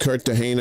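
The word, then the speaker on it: Cartagena: And the only reason folks sidebar the only reason I know that's pronounced Cartahena is because of that movie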